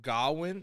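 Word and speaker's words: Gawain: some background in uh gowin or gor i like to say gowan i it it's kind of weird pronunciation but it's a groin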